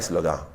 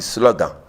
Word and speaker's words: slogan: Voilà, un mot que certains prononcent, slogan. On ne dit pas slogan, on dit slogan.